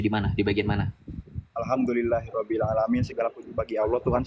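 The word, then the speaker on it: الحمد لله رب العالمين: Ketika di dalam surah Al-Fatihah, kamu baca yang benar. Alhamdulillahi Rabbil Alamin. Kan gitu bunyinya, bukan Alhamdulillahi Rabbil Alamin. Gak ada makhrajnya, gak ada panjang pendeknya. Gak jelas bacanya.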